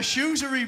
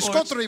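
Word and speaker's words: charcuterie: Oh, a shoesery board. A shoesery board. But if you pronounce the C, it's a scuttery board.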